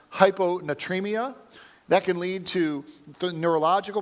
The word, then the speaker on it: hyponatremia: Severe lack of salt, I believe is that it's pronounced hyponatremia.